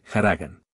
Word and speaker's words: haragán: o et en Andalucía también aspiran la H que es muda siempre en español y la palabra Haragán por ejemplo la pronuncian como los sefardíes haragan a propósito los sefardíes